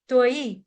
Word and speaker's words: त्वयि: छोटी इ की मात्रा यहां पर गलती से तई पड़ जाता है तई नहीं है ये है तई त्वई ठीक है य आना चाहिए